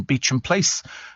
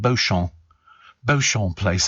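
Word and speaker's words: Beauchamp Place: lot but I went to San Lorenzo in beach and place it was amazing you know I could never for years pronounce beach and place I called it bon bon place until somebody said it's pronounced Beach and place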